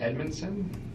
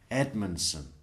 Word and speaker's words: Edmonson: a l there Miguel Edmonson Edmonson yeah it's like e d m o n d Edmonson that's more than three syllables long I'm lost Edmonson e dmu hang on